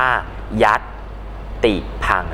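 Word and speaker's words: ยัติภังค์: บอก คำ อ่าน เช่น ยติ พัง อ่าน ว่า ยัดติ พัง นะ ครับ ซึ่ง ก็ จะ ใช้ เครื่อง หมาย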